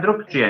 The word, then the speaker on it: drukčije: Busquen la palabra drukčije, ¿no la No era, todavía? no era sonoro, sordo. Sonoro sordo. Bueno, En este Griselda. caso, druk con G, la G pasa a ser K.